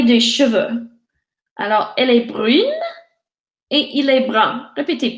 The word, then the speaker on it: brun: cheveux, alors elle est brune et il est brun. Répétez: brune. Brune. Brune. Brun. Brun. Brun. -Brun. -Brun. Très bien, so the N doesn't get pronounced, for the nazane masculin,